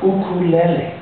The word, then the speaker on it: ukulele: final instrument we call ukulele. Can everyone say ukulele? Ukulele. That is a correct pronunciation of this instrument.